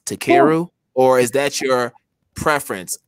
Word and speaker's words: Takeru: feel comfortable and saying actually my name is pronounced to keru right and so um